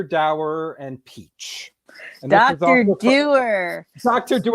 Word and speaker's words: Dower: to be a vain type who decides to spell his name Dower but say it Doer.